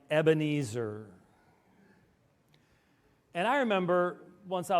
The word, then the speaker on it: Ebenezer: yanking your chain um there is a line in A Hymn that we all know that we mispronounce all the time and I want to help you I want you to help me to correct the whole Christian Church here I raise my Evan eight sir Evan eight sir now how has everybody say it here I raise my Ebenezer and I remember once